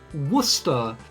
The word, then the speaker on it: Worcester: Worcester is a very odd word, because it isn't like you pronounce it like it's two O's, because the emphasis is really weird. Like, you have booster, but, like, if you said booster like you said Worcester, it would be Buster.